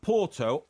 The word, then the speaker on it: Porto: no don't be ridiculous if you were Portuguese you would you you would pronounce Porto aorto aorto that's what it is in but when in England we do not we do not pronounce um Porto o Porto we pronounce it Porto that's English for instance